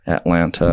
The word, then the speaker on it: Atlanta: going to not, rep Atlanta. Yeah. Atlanta, sorry. Can't pronounce the second T. So, second T isn't real.